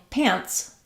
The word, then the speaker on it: pants: sound here pants pants it's almost like you don't really hear the T because I'm not releasing it I'm not saying pants